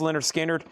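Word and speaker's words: Lynyrd Skynyrd: Skard's debut pronounced Leonard Skard.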